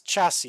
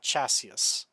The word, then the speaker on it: chassis: alien technology is cool the third s is silent it's telling you how to pronounce chassis it's chassis and not chassis chassis the third s